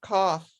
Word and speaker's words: cough: i know it's got an o-u-g-h i just pronounce it like off with a c in the front cough and people say that i have a a